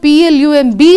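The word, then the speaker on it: plumb: Plum, the homophone P-L-U-M-B is given because B is silent. In one of your lessons, in the exercises, you have letters that are silent. You see, so we can say plum, plum, even though we write P-L-U-M-B.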